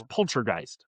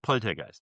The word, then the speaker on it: Poltergeist: So, in English, it's poltergeist. Poltergeist, right? Not politist. Poltergeist.